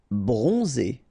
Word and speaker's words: bronzé: Bronzé. So O-N, on, and then Z. It's really pronounced like Z.